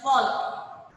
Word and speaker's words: Volk: Beta V-O-L is not Volk. It's pronounced in German as Volk.